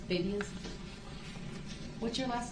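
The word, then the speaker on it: Babiasz: B-A-B-I-A-S-Z. It's Babias. What's your last name? Babias.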